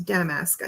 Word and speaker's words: damask: I think it's pronounced damaskque or damaskque. No, it's damaskque. I think almost sounds like dumbass, but it's not. It's damaskque.